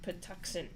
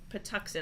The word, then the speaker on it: Patuxent: patuxent i think it patuxent patuxent i think it's pronounced all right we have kenny is predicting a road victory for huntington huntingtown by a score of 34 to 13.